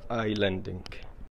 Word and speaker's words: islanding: طبعا الاس ما ينطق فيسمى اي لاندينج.